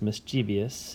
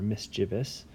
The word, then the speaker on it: mischievous: And then you've also got mischief and mischievous, or some people pronounce this mischievous, even though the spelling is more mischievous.